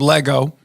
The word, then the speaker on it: Lego: I've got some stuff I may have collected from a certain company named Lego. Yeah. Rhymes with ego.